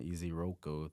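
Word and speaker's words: Ezeiruaku: I had the guy from Boston College, Donovan Iziroko.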